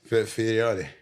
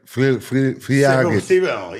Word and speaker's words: Fiorot: Fiorot. Yeah, she's French. She's French. Oh, she's Ça va, c'est French. bien. So you got to say like Fiorot.